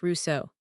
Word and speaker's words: Rousseau: The most famous and most painful is his friendship and eventual falling out with Rousseau, pronounced Russo.